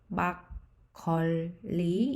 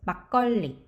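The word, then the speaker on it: 막걸리: of my favorite rice wine which is called bakoli in korean it's actually pronounced as baccoli notice that we have this kio followed by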